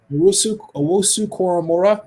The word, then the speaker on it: Owusu-Koramoah: The Baltimore Ravens get Jeremiah Owusu-Koramoah. Did I pronounce his last name correctly? Owusu-Koramoah, thank you, out of Notre Dame.